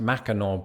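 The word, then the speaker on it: Mackinac: this does not include other behemoths like the macak bridge which for any Uncle toes out there is pronounced macor Bridge hard pronunciations are going to be a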